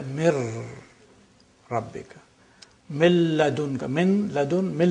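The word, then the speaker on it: مِن رَبِّكَ: So you don't pronounce min rabbika, you say mir rabbika.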